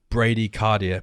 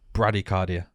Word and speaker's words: bradycardia: there's something called i i read it as bradycardia but i think it's pronounced bradycardia right yeah it's a heart